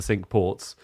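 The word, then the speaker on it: Cinque Ports: It's it's a crazy choice, but there is this honorary position called warden of the sink ports and uh Wellington was that.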